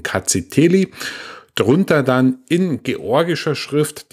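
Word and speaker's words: Rkatsiteli: Das R am Anfang spricht man nicht aus, also heißt die Rebsorte ausgesprochen Kaziteli.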